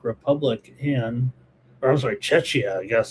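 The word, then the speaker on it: Czechia: Uh here we're underway with the Czech Republic and or I'm sorry, Chetchia. You got to say it right now. Cetchia and Korea here underway.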